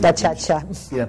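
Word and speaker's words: gacaca: Yo mencioné hace un ratito hablando con usted una palabra que Gachacha. Yo dije, porque está escrita G-A-C-A-C-A. Sí, gachacha es como la pronuncian.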